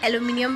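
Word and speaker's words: aluminium: ठीक है, American language में ऐसे लिखते हैं, ब्रिटिश लैंग्वेज में आई के साथ लिखते हैं, तो मैंने आई के साथ ही लिख रही हूँ, और प्रोनाउंसिएशन की अलग अलग है। तो ये जो आई वाला है इसको एलुमिनियम प्रोनाउंस करते हैं।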